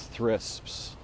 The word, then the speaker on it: thrisps: And I called these thrisps.